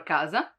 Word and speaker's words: casa: When K is followed by A, O, or U, it stays as a hard sound.